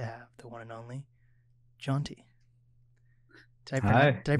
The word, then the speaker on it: Jonti: It's my pleasure to have the one and only Jonti. Did I pronounce it right? Yeah. Is it Jonti?